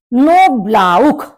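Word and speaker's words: Knoblauch: नोब्लाउख, नोब्लाउख garlic, लहसुन। देखिए AU के बाद भी जब CH आता है तब भी आपका जो प्रोनाउंसिएशन है वो खा होता है, तो इसलिए नोब्लाउख गार्लिक।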